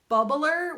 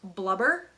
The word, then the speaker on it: blubber: before I realized that bubbler was actually supposed to be pronounced blubber but my parents never